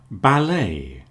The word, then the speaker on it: ballet: lot of cases, but one thing we all agree on is we don't pronounce the T.